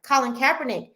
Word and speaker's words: Colin Kaepernick: Colin Kaepernick uh Kaepernick I'm sorry let me pronounce his name right Colin Kaepernick in his story um he got cornrows and